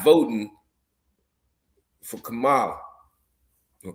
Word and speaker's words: Kamala: Black women not voting for Kamala or Kamala. Yeah, Kamala.